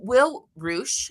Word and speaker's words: Will Reusch: So, Will Reusch, am I pronouncing that right?